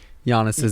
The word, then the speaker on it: Giannis: should be the end of this podcast intentionally mispronouncing giannis's name i switched it up tonight yeah it's